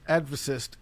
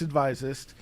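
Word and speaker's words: Advisist: i s i s t everyone wants to pronounce it adist no it's advises uh it's also on the Twitter's it's on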